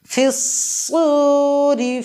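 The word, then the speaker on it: في الصور: ইকফা হবে ইয়াউমা ইউনফাখু ফিস-সূরি রয়ে এখানে জের আছে এই জন্য রটা পাতলা হবে ফিস-সূরি ফাতাতুনা আফওয়াজা ফাতাতুনা আফওয়াজা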